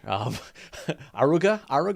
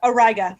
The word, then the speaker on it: Auriga: Molly, help me out here. Aruga? It's Auriga. Auriga, yeah.